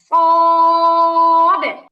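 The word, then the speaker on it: صاد: সময় বাতাস বের হয় কিন্তু যখন আমরা সদ উচ্চারণ করব তখন বাতাসটা আটকা থাকবে বাতাসটা বের করা যাবে না তাইলে উচ্চারণের মধ্যে ভিন্ন একটা ভাব আসবে সদ উচ্চারণের সময় বাতাস বের হবে না সিনে বের হয় সদে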